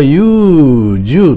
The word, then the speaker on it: 禹洲: すけども、これは優柔と読むそうですね。